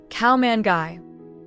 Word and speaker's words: ข้าวมันไก่: The answer is cow mangai. In English, cow manu in Thai cow.